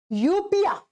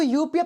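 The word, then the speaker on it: eupnoea: की वोकैबुलरी में पढ़ोगे यूपिया इसको यूपिया प्रोनाउंस करते हैं एन और ई साइलेंट हो जाता है यूपिया किसको कहते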